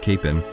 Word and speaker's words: Kapaun: While not yet a saint, the cause for the canonization of Father Kapaun, or often pronounced Capon, has been fought for in the last few decades.